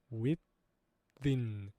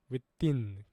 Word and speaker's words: within: 그래서 within, within. 지금 한눈에 드시고 뒤에가 뭔가 강하다는 느낌이 들릴 겁니다.